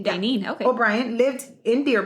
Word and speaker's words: Daynene: It's spelled Daynene. Oh, okay. Dainine.